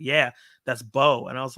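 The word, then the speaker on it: Beau: Bo is afraid but Bo is spelled b-a-u and I've never heard that word before or that name or pronounced like that so the whole time I kept saying view was afraid view is afraid view is afraid through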